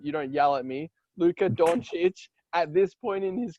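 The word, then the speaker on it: Luka Dončić: no one is on the same level as luka doncic at this point sorry let me say it right so you don't you don't yell at me luca doncic at this point in his career i'm not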